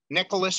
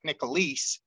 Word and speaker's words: Nickelice: is my full name it's spelled a little funny it's um Nicholas but it's n i c k e l i c e like nicholis so it's nicholasbrand